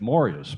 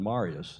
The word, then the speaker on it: Marius: I learned yesterday it's pronounced in Swedish Marius more than Marius.